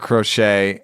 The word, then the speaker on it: Crochet: also paired him with who I call the Rocket because it doesn't rhyme with crochet, but it should. Garrett Crochet and Ronald Acuna Jr.